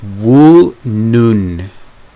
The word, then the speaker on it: Woonun: this the um specifications the brand name is woo noon so that was the name that i couldn't remember or pronounce woo noon so the case material supposed